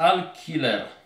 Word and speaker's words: alquiler: Więc Al-Killer pisze się Al-Q-U-I-L-E-R.